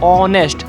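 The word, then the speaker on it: honest: एन ए एस टी इसे बोलते हैं ऑनेस्ट मालूम है क्यों क्योंकि जो यहां पर हा है वो साइलेंट रहती है जी सर आपको यह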